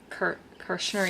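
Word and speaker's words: Kirschner: Kirshner, yeah.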